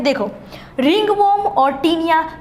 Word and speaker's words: tinea: Taenia, क्या बोलते हैं, टीनिया, TINEA, टीनिया बोलते हैं।